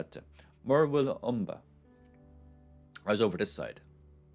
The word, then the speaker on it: Murwillumbah: It's actually not that hard to pronounce once you know how to. Murwillumbah.